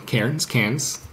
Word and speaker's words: Cairns: had a gallery in Karen's cans uh depending on how you pronounce it Australians would not like to hear Cairns but he had a